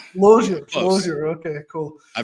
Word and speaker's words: Losier: Loer. Yeah, loger. Loer. Okay, cool. I've heard a lot of different pronunciations, but All right.